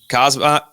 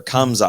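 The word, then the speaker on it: Khamzat: are, we're talking about Kazma, or why do I say his name wrong every time? Kamza. I forget what the M.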